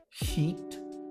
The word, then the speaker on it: sheet: Lençol, sheet, tem o I mais agudo. Então, como que você faz para não errar? Quando você for falar o lençol, esparrama, sorria amplamente. Ok? Sheet, sheet. Maravilha?